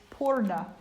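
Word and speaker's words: पूर्ण: And it's really interesting that in Sanskrit, the word for fullness is purna. Now we spell it, and when we transliterate it, it's spelled either P-U-R-N-A or P-O-O-R-N-A. But still, the vibration is pur.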